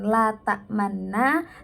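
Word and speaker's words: لَا تَأْمَنَّا: Jadi suara kita itu melafadzkan la ta'manna, namun bibir kita itu seakan-akan membaca lafadz la ta'manunna.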